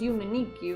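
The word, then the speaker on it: Yume 2kki: Yumetuki. Which should also be pronounced Yumeniki, but for the sake of differentiating them.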